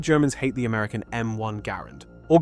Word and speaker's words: Garand: Why did Germans hate the American M1 Garand or Grand if you want to start a fight in the comments? The man who designed the rifle pronounced it Garand, so that's what we're going with.